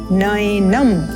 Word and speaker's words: नैनं: यहाँ पर आप ध्यान देंगे जो अय का स्वर है ये बहुत विशेष है। इसको अधिकांश लोग उच्चारण करते हैं नैनम, तो ये ए नहीं है, ये है अय, नय, नैनम।